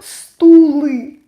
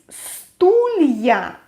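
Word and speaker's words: стулья: an exception for plural so it's not stooly no no way it's stullia but since we didn't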